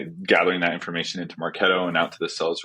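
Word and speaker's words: Marketo: remember in the interview I mispronounced maretto I think I pronounced it Market 2 like Market to or something like that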